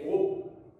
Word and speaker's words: crocs: la mâchoire supérieure des crocs. La lettre C finale ne se prononce pas. On dit un gros, des crocs avec S.